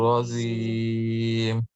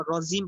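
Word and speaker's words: رجيم: আউযু বিল্লাহি মিনাশ শাইতানির রাজীম। আউযু বিল্লাহি মিনাশ শাইতানির শাইতানির রাজীম। আমাদের এই যে এখনো রজিম পড়া হয়, রজিম না রজিম, জিমটা ভাইব্রেশন হবে, শক্ত হবে, রজিম, জিমের উচ্চারণটা আমাদের এখনো হয় না, এটা খেয়াল করবেন ইনশাআল্লাহ।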